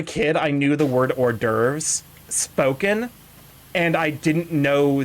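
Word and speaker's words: hors d'oeuvres: it, I'm like, "Okay, that's that's how it's pronounced." It's like it's like how as a kid I knew the word orves spoken and I didn't know that it was spelled that way.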